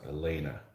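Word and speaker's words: léine: Yeah, so just when I was done with these guys, I find out how this shirt uh, that they're wearing is pronounced, and it's Elena.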